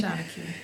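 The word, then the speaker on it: seanchaí: And Ireland has a strong tradition of storytellers, but does that make you a Shanachie? Am I pronouncing that correctly? Shanachie, yes.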